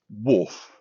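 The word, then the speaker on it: Wharfe: attractive bridge and we're crossing the river wolf that's spelled w h a r f as in wolfdale um which I'm sure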